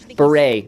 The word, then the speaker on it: beret: It's beret. Not beret. Silent. Silent T. French, I believe.